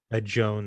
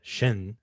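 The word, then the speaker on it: Jeanne: letter that that uh joan or shin as as it's pronounced in french says towards the uh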